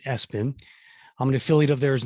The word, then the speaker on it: Espin: to show you the uh espen line of e-bikes or e-spin as a as i like to call it but i believe they pronounce it s-bin i'm an affiliate of